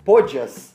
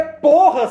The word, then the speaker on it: Porras: Ele tentou mudar a pronúncia, aí ele começou a falar Podias. Não, é o Podias, é o Podias. Não, não é Podias, Galvão. Não, Porras não. Mesmo. É Porras, porra.